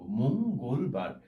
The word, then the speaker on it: মঙ্গলবার: আমরা যদি এটাকে এভাবে লিখি, মঙ্গলবার, এটার উচ্চারণটা হবে মঙ্গলবার। এইভাবে আমরা পুরো উচ্চারণটা করব, মঙ্গলবার। অর্থাৎ এইখানে আমরা সংবৃত একটা উচ্চারণ দেখতে পাচ্ছি।